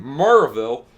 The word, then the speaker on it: Maryville: the Burton book and Marvel Tennessee it's spelled Maryville but you pronounce it different so yeah we're gonna